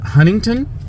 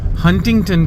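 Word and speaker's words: Huntington: सो इट्स नॉट हंटिंगटन इट्स हंटिंगटन। The first T is silent.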